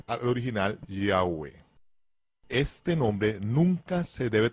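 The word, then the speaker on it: Yahweh: por parte de los estudiosos entonces se debe pronunciar al original yagüe este nombre nunca se debe tomar a la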